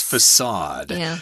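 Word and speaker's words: façade: face in French and it's got that weird letter C there with a little diacritical mark at the bottom there that's why the C is pronounced as an S facade the glittering facade now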